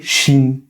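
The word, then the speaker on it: שין: Quand cette lettre là, le chine a un point en haut à gauche, on va l'appeler chin et aura le son aura le son che comme dans Chine justement.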